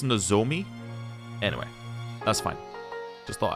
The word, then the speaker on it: Nozomi: Because I was saying Nozumi. It should be Nozomi, I think. I don't know. I guess I was just saying Zoo because it was Z-O.